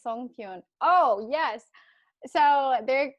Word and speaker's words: songpyeon: Yeah, it's songpyeon.